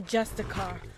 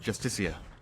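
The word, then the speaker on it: Justiciar: trust this ass clown he's a justicar a thalmor it's pronounced justicia rigmore let's all go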